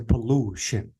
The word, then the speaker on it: pollution: four this is it there are words that end in i o n usually the Swiss falls on the syllable before the io n so if I want to say this word I have to say pollution and if I want